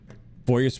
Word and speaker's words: foyer: Well, if you say the French pronunciation, it's foyer, right? But most people in America call it a foyer.